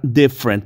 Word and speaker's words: different: que analizar la palabra different porque tenemos También muchas palabras similares no se dice different no hay tres sílabas sino que únicamente dos algo similar cede con